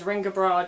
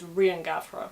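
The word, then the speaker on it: Riangabra: He's known as Mac Riangavra and I occasionally pronounce that as Ringabra just because it's funny, but actually the emphasis is on the first syllable and that B is a V, so it's Riangavra.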